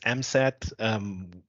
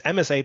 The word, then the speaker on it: MSAID: Frequently, people pronounce MSAID as MSAT. That's, of course, completely wrong. It's MSAID for a reason, and the reason is